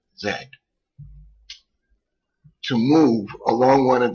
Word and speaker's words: Z: on an axle okay it is pronounce X Y Zed so if you see another tutorial and they say well on the Zed axis that's the Z axis it's properly pronounced Zed to move along one